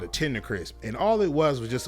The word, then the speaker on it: Tender Crisp: It was a Burger King Tender Crisp. That's how you say it. When she said it and people used to ask for it, she used to always say, okay, Tender Crispy.